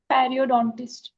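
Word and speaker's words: periodontist: Uh the gum from often where we bleed like if you are having py can you pronounce the word perodontist. Perryodontist.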